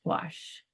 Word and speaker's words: gouache: to spell it go you ache when it's pronounced gach um yeah thank you all so much what